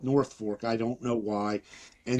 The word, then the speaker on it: Norfolk: Did a show in Norfolk, which it's spelled Norfolk, but they call it North Fork.